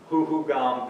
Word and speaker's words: Huhugam: Now you may say, Steve, you're pronouncing that wrong. It's Hohokam. Well, when you dig into it, both words are correct. Hohokam and Huhugam. Hohokam is more of an archaeology type term.